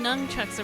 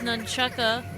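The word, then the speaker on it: nunchaku: You just swing nunchucks around in your little karate class. It's pronounced nunchucka.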